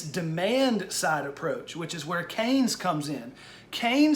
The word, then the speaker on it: Keynes: ke Y in ES Keynes it looks like key like you unlock a door and yes but it's pronounced Keynes it looks like Keynesian